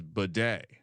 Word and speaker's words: Beatty: He actually has recently announced that the pronunciation of his name is Bidet.